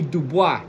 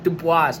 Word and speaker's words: Du Bois: Dubois. No, Dubois. Dubois. It's not the boys like we them boys.